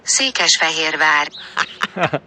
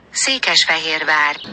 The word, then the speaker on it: Székesfehérvár: Quella riascoltate insieme e pronunciatelo. Székesfehérvár. Székesfehérvár.